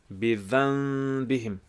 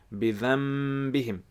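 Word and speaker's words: بذنبهم: And you pronounce it as bidhanbihim. So some scholars say that you join your lips together, bidhanbihim, and some scholars say that you have a slight gap between bidhanbihim, and that meme is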